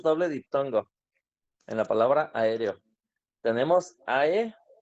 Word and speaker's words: aéreo: diptongo en la palabra aéreo. Tenemos AE y tenemos EO. Entonces aquí tenemos un ejemplo de dos diptongos en la misma palabra. AE sería la primera sílaba y REO sería la segunda sílaba.